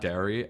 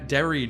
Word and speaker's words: Derry: We wanted to send the beta key to Derry, not Dairy.